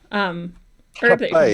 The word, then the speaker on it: rapé: Rapé, it's actually spelled rape. It's spelled R-A-P-E with a little hyphen over the E, but it's pronounced half with an H. So it's rapé.